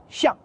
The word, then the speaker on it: 相: ou chef chien ici ce caractère se prononce au 4è ton chien signifie ministre conseiller quand on le prononce au premier ton chien c'est dans le sens mutuel réciproque le mot qu'on utilise